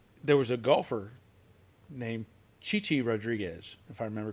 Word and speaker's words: Chi-Chi: a broadcast and he he was saying it's chai chai rajes and you